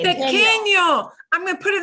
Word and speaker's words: pequeño: oh, pequeño. Pequeño. Pequeño.